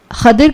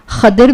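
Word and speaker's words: خضر: खादिर नाम के अलग-अलग उच्चारण होते हैं। इसे खादिर भी कहा जाता है।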